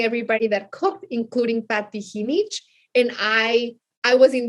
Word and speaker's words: Jinich: be there to see how someone had pronounced my name so right you know because usually usually people in the usa he needs as genic um and it was